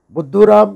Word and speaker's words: Buddhu Ram: Buddhu Ram is a Hindi word which actually rhymes with Mr. Dumbo in English.